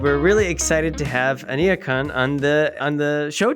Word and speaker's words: Aniekan: so my name is my first name is pronounced anakan and the surname is